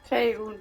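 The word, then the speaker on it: Faerûn: Faerun. As do our So wird's packs, ausgesprochen, as a ich matter vergiss of es immer.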